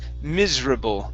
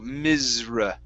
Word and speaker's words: miserable: uh okay okay so this word is pronounced miserable miserable miserable miserable okay so instead of miserable okay so slide slide into that uh sound a little bit more in the middle so misra miserable there you go good okay